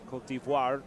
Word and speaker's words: Côte d'Ivoire: a native of the Ivory Coast, Côte d'Ivoire, as it is pronounced.